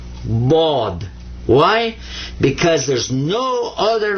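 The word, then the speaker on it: ض: But his name's not Shad.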